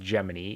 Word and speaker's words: Gemini: Gemini, and I have confirmed it is pronounced Gemini, in 5 is potentially my favorite.